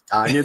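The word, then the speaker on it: Tonyan: It sounds like how we would have pronounced it wrong initially, and he would tell us it was Tunyon.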